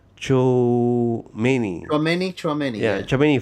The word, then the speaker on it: Tchouaméni: Um this name I I I have difficulty pronouncing. Tchouaméni.